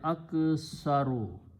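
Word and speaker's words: أكثر: If you make the superlative of this, you just put alif in the beginning and pronounce the same way, aksaru.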